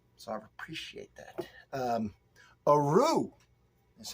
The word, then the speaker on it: Athru: the channel sample so I appreciate that um a rue that's how you pronounce this uh cash see the cashier cash